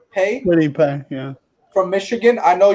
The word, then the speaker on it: Kwity Paye: This is how do you pronounce that? Kwity Paye? Kwity Paye, yeah.